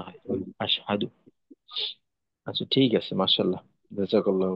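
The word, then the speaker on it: أَشْهَدُ: আর এই অংশে আশহাদু আশহাদু ক্ষেত্রে জি এখানে আশদু যেন না হয়।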